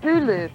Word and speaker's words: Hulu: It looks like NBC and News Corp are on the verge of launching their YouTube killer called Hulu that rhymes with Zulu.